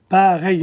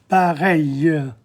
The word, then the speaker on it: pareil: Pareil in front of the L. You don't pronounce the L's. Pareil.